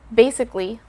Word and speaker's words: basically: sound better too so have the letter a hear a silent letter basically this is basically